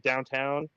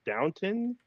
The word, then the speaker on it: Downton: I remember talking to Kay because it sounded like she said downtown, and she kept going for like 2 minutes, but it's pronounced Downton.